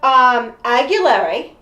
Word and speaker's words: Aguilera: It actually is, well, it's spelled like, it's pronounced like Aguilera.